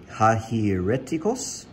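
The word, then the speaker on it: αἱρετικός: um it's the greek word right there it's pronounced hajireticos from the same 140.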